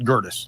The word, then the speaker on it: Gerdes: the time but like we just call it gerus like that that's how we pronounce it since we Americanized it or whatever